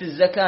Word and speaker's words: الزكاة: كلمة الزكاة يا شباب، لاحظ الزكاة في الآية 43، إذا شفتوا الواو فوقها ألف خنجري ما ننطق الواو، ننطق الألف. إذا شفتوا الألف بعد الواو ننطق الواو والألف، فتأتي في الصلاة والزكاة واو موجودة عليها ألف، فما علينا من الواو أن ننطق الألف فقط، فتكون الزكاة. أتأمرون الناس بالبر وتنسون أنفسكم